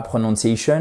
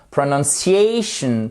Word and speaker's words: pronunciation: yes no question alors c'est pas prononciation non pronunciation pronunciation ok petite astuce quand les mots se terminent par Shun vous avez l'accent tonique juste avant ok prononciation vous